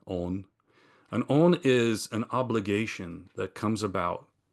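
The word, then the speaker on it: 恩: It's pronounced on, not on, on.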